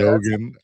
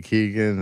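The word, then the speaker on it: Barry Keoghan: Yeah, that's what I Yeah, Kogan. This whole time people have been saying Keegan and that's wrong.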